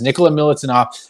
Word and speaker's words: Nikola Milutinov: Nikola Milutinov.